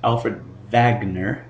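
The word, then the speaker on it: Wegener: His name is Alfred Vagner. since he was German, we pronounce that W as a V.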